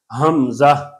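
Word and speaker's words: همزہ: لوگ غلطی کرتے ہیں، اس کو حمزہ کہتے ہیں. حمزہ وہ آخر میں ہا کو پڑھتے ہی نہیں ہیں اور زا کو نرمی کرتے ہیں، یہ بھی ٹھیک نہیں ہے. یہ 4 حرفوں والا حرف ہے لیکن مختصر حرف ہے، لمبا نہیں کرتے. حمزہ، اس کی انگلش کریں گے HAM، ہم، ZAH، زہ.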